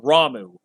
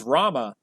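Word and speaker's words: Ramuh: years of my life it was saying um ramu ramu's not as one of the summons that's not how you pronounced his name it's Rama but I've heard it ramu my whole life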